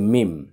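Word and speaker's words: ميم: আর মিম হচ্ছে তার বিপরীত, 2 ঠোঁটের শুকনো জায়গা থেকে, মিম মিম।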